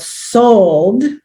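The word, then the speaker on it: Sol'd: this is a event it's called sold and i'll tell you how that's spelled so it's spelled s-o-u-l apostrophe d right so because it's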